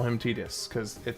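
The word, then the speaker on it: Tidus: some point, I know technically his name is pronounced Tetus. And I understand the council has made a decision on that, but I think it's a stupid decision and I refuse to call him Titus cuz it sounds ridiculous.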